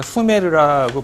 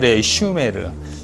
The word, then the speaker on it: 슈메르: 사람들의 인구 집단을 우리가 수메르라고 불러요. 사실은 슈메르. 네, 우리나라 말로 이제 슈메르 쓰려면 유 발음으로 써야 되겠지만 그냥 관용적으로 수메르라고 써요.